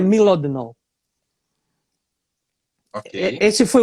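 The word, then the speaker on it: Mlodinow: Livros, Subliminar, do Landon, eu chamo de Modlinov, mas eu já ouvi a Inês falar, eu acredito que pode ser a pronúncia certa, que é Milodnov.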